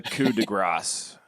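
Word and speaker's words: coup de grâce: The coup de grace. The coup de grace here? All right. Yes. And merci, Larry, for letting us know. Pat's right on that. There is a soft C. Coup de grace.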